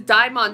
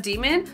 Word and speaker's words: DXMON: it's Erica debut has arrived uh this is Dion That's how you do say it that's how you I have official official pronounced Dion okay so it's CU I saw somebody on Tik Tok call them demon so I didn't know if I was saying